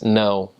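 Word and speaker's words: não: In Spanish, you just say no, but in Portuguese, it's no. With an N, with an A, with a little squiggly line over the A, and an O. And that is a very nasal sound. You would say, oh, no. And it would sound like you're saying noun, but like through your nose completely.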